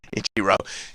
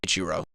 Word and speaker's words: Ichiro: Ichiro.